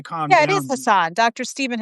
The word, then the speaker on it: Hassan: Yeah, it is Hassan, Dr. Stephen Hassan.